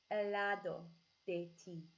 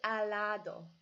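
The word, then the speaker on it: al lado de ti: lado de T and it's okay to say al lado cuz you can blend those two words too because they but one has the L on the end and one has the L on the beginning so it kind of flows nicely off your tongue a lado de T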